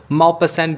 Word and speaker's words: Maupassant: नाम था गाई डी माउ पसेंट कुछ लोग इन्हें माउ पसा भी कहते हैं और कुछ लोग इसको मा पसेंट भी प्रोनाउंस करते हैं दोस्तों एक फ्रेंच